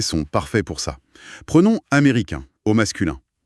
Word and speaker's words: américain: Prenons américain, au masculin. On s'arrête sur une voyelle nasale. L'air passe par le nez et le N à la fin n'est jamais prononcé. Il n'existe pas, auditivement parlant.